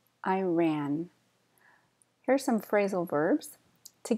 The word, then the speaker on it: Iran: adventurous chic chic Iran Iran stress at the end Iran here's some phrasal verbs